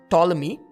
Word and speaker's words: Ptolemy: somewhat spherical which allowed ptolemy with a silent p the greek mathematician to